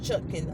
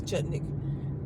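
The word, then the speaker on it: Chutkan: After Judge Chutkin, I always say her name is Chutnik, after she's already said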